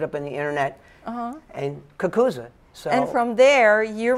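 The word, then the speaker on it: cucuzza: In some parts of Italy, so the Italians pronounce it kakuza, which is really how it's done.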